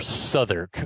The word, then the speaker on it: Southwark: Or Southwark, which is spelled Southwark, but pronounced Southwark.